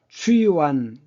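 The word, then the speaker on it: 蹴丸: 추환. 추이완, 중국 발음은 이제 추이완이라고 하는데 지금 여기 보시면 여자들이 귀족 여자겠죠?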